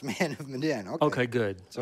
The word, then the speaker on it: Medan: Keltner don't worry nobody knows how to pronounce Mandan oh okay good so it's not the only Thursday afternoon slow jams with Nick from is it maidenly think man of Medan man of Madonna it's Madden Madden I mean but how do I know they